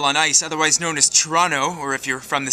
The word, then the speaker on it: Toronto: ice otherwise known as Toronto or if you're from the city properly pronounced as Toronto it's a three-syllable word by the way torontonians